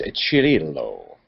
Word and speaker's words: Cirillo: i i think it's a chili low really yeah because in italian ci is a ch it's more like a cheese oh that's right delicious